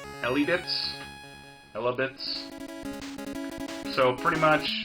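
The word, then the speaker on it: Elebits: It's a Konami game for the Wii, and I think you pronounce it Elibits.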